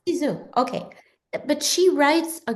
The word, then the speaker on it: Cixous: I think I say the name wrong. However, Cixous. Ciseaux. Yeah. Yeah, Cixous.